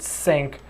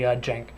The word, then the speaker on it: Jenk: in maya 2013 and I apologize I've been pronouncing it sync this whole time and I was finally told hey it's actually jank so I feel stupid